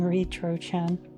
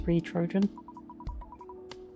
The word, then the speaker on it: Re-Trojan: The name started with You mean Retro-chan. Wait, is that Re-Trojan? Yes, it's Re-Trojan. Retro... what was it? Re-Trojan. The pronunciation is a bit odd.